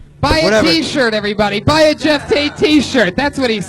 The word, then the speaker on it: Geoff Tate: Geoff Tate 73, everybody. It's Geoff Tate 96.